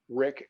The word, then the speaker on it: Rik: facebook and i use my my name uh rick it's spelled r-i-k not r-i-c-k-r-i-k and that's that's